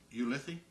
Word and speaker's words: Ulithi: and uh at you how do you pronounce it ulithi ulithi yes it's UL t h i yes ATO ATO yeah